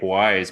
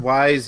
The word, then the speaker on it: Ys: I've heard Wise, I've heard East. I don't know. East. East. It's East. East.